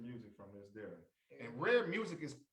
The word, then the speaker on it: Rhare Muzic: you get your music from this there and rare music is pronounced spelled r-h-a-r-e music m-u-z-i-c okay so make